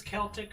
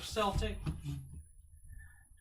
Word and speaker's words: Celtic: you know if it's celtic or celtic oh you know what i could do i could uh google it is it kill tick or sell tank there we go whoops so